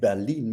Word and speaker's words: Berlin: In Potsdam, in Berlin, I said Berlin because that's why it's the German pronunciation.